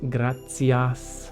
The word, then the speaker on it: gratias: the main differences are the tea in gratias becomes grazias like the zian pizza this happens in some